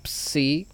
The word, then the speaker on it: psi: y una S juntas, y la psi, que sería una P y una S.